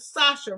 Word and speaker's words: Sacha: This is the stream that you need to be on because she's providing, and I'm at Sacha, right? Yes. Okay, see, because I was about to pronounce the CH because I'm about to